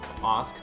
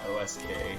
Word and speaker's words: osk: slick keep it real ask not osk oh no i've been told that it's supposed to be pronounced ask but that's never been